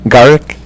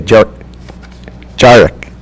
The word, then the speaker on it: Jarek: And finally, and make sure I'm pronouncing your name correctly, Garrick? It's like a J. Like a J, Jarek.